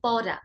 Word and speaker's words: পরা: একইভাবে পরা মানে কি, পরিধান করা, পরা, যেহেতু র, জিভটা সামনের দিক থেকে উচ্চারিত হবে, পরা।